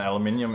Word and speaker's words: aluminium: And aluminium is is is the British way of saying it, but uh Americans say aluminum.